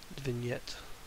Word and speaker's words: vignette: face here and get a bit of a vignette that's the correct way to say it and